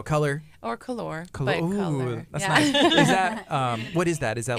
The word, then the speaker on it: Kolor: get your tickets there it's pronounced the same way though color what is that is